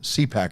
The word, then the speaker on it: CPAC: CPAC? Did I say it right? Yeah. Yeah. CPAC has joined.